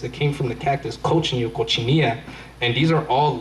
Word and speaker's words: cochineal: It's actually an insect, and it's called cochineal. And ever pronounce that word? Cochineal. Cochineal.